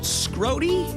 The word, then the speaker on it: Scrody: And she's being escorted by Ahmad Scrody? No, that can't be right. Hey, how do you pronounce that, Ahmad? It is Scrody. It is Scrody. Of course, that one sounds like it's spelled.